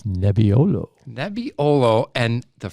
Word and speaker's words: Nebbiolo: uh and what grape are we trying it's nebiolo that'd be olo and the phrase that pace and it rhymes with my last name but i won't say my last name there it's nebbiolo and uh as if you watched many of